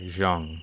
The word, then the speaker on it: Zhuang: Okay, Zhang. That's how you say that.